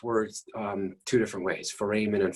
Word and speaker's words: foramen: say that this word um two different ways foramen and foreman when i was a student my instructor said four men so that's how that's what's sort of tattooed